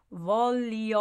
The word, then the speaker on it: voglio: Io voglio andare. Voglio is emphasized.